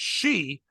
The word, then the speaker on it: Xi: on, by the way, Chaz did an amazing job of trying to pronounce her last name. And he's like, it's she. And we're like, oh, she. We're like, she. We kept doing noise. And then they said, oh, it's spelled XI.